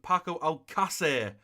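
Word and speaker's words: Paco Alcácer: though I've been called and packable seesaw it's pronounced paco al qussair so I will pronounce it as long as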